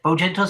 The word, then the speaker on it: Bojangles: Bogentle? Is that how you pronounce it? Yeah, Bojangles' spell book.